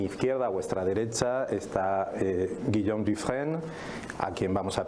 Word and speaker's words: Guillaume: Guillaume. Vale, pues muchas gracias y buenos días a todas y todos. Me llamo efectivamente Guillaume Dufresne, tú lo has pronunciado muy bien, así que enhorabuena.